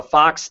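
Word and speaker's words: Fawkes: like the there's a fox character in here his name is the last name of his family is is um Fox but it's spelled like f a w KES but um and you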